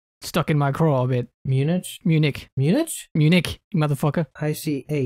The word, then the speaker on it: Munich: for you can say something uh-oh you said munition and it stuck in my craw bit munich munich munich munich IC H